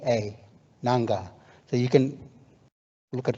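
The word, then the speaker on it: Ngarrngga: I'll spell the name for you nanga it's pronounced nanga is n g a r r n g g a nanga so you can look at the website when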